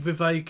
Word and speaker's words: Vivek: Do you think Vivek, it rhymes with Cake Ramaswamy, supports all of this public spending that you're outlining here?